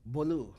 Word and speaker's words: Bolu: Bolu.